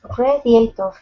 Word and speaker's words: radiator: Radiator. That's good. First syllable stress. Radiator. Radiator.